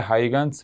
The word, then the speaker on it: Huygens: से, और वो है हाइगन्स प्रिंसिपल। अब हाइगन्स प्रिंसिपल, कई लोग इसे ह्यूजन प्रिंसिपल भी कहते हैं, अलग अलग प्रोनाउंसिएशन है, लेकिन ये प्रिंसिपल क्या